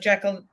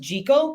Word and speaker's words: Jekyll: like you said like jekyll do you know what's pronounced jiggle this is a non-sequitur is it they say it's pronounced jiggle isn't that screwed up